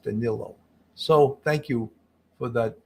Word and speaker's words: Danelo: was spelled d-a-n-e-l-o in essence Canelo but it's pronounced Danilo so thank you for that Portuguese person that